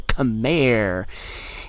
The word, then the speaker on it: Khmer: go to another civ with a hard C at the beginning, and that is the Khmer.